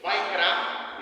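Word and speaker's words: ויקרא: A sua pronúncia no hebraico significa o silê, vaikra, e significa e chamou, ok?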